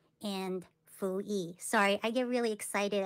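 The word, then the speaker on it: 伏羲: It's called Nuwa and Fuyi.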